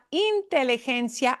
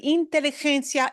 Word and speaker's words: inteligencia: La inteligencia artificial. La inteligencia artificial. Bien, okay. And think of getting rid of this j sound. Okay. Inteligencia. Inteligencia. Gencia. Yeah, the G is a Inteligencia.